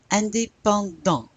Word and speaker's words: indépendant: Le rock indépendant. You don't pronounce the T.